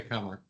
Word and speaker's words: Kummer: Depends on which side of the family I say comer.